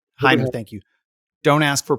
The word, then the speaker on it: Hainer: Am I pronouncing that right? He said, Hainer, thank you.